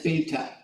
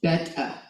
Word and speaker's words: beta: lot of people say this pronounce this as beta it's pronounced beta and he said you stupid English she told